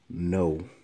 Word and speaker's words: know: No. No? Yeah, the K is silent for this one.